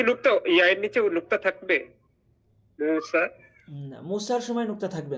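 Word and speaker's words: موسى: নিচে এই দুই নুক্তা থাকে তখন হচ্ছে কেমন উচ্চারণ হয় যেমন মুসা মুসা আলাই সালামের নাম শুনেছি আমরা মুসা এখন মুসা বলার সময় ইয়া আছে কিন্তু আছে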